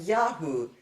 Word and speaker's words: Yah: Remember, in the short form Yah, when it's used as a name, or in the rare name Yedid Yah, there's a little dot inside the Hey, the mapik, and it shows this Hey is a guttural or consonantal Hey, not a vowel letter Hey.